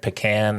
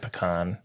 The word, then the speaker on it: pecan: It was one said pecan and one said pecan. Well, a little later in the description that I'm going to give in the presentation, we'll come across why it may be more correct to say pecan.